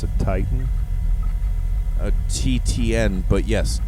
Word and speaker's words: TTN: How do you pronounce it? Titan. A TTN, but yes, Titan.